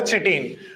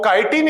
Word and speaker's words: chitin: Kitine or some pronounce it as a chitine but don't pronounce it's a chitine it's a kitine. So kitine is nothing but the component of what fungal cell wall fungal cellular cell wall.